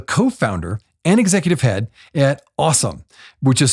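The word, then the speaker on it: AUSOME: you're also the co-founder and executive head at awesome which is spelled a u s o m e Great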